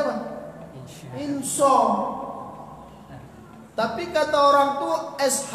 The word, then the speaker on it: Insya: Insya. Tapi kata orang tuh SH Pak Ustadz, itu yang mengatakan orang Inggris. Di Inggris itu shin sama dengan SH. Di Indonesia shin sama dengan SY.